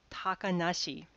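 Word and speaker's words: 小鳥遊: in the same way these characters would normally be read as kotoriasobi little birds play or if you're going to go with the onyomi but when these are put together in the context of a name we read them takanashi because little birds kotori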